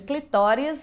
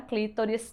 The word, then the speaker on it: clitóris: o clitóris né aí uma dicotomia entre os linguísticas quanto a pronúncia a A grande maioria fecha em clitóris mais alguns consideram clítoris também a pronúncia correta mas é importante a